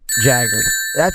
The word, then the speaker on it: Jagard: Denny Jagard. Did I pronounce that right, Denny?